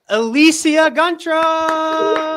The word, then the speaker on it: Elicia Guntrum: all right introducing our new Director of Education elisia grra said it right and I just want to